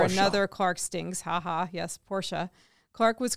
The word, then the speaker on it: Porsche: Crystal wrongly corrected him saying Porsche and not pronouncing it right but that's for another Clark stings haha yes Porsha Clark was correct the car was a Ferrari